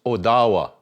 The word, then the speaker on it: Ottawa: language which means leader okay here's another county ottawa county supposed to be pronounced odawa which is a tribe of the anishinabe nation